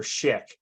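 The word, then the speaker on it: Szyk: on a famous Jewish polish artist named Arthur Schick and if you're not familiar with him it's spelled s-z-y-k I put it up on the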